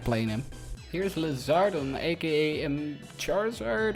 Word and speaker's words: Charizard: Here's Lizardon, aka Charizard, or if you're weird, Chari Hazard, I guess. Yeah, some people pronounce it that way from what I heard, at least myself.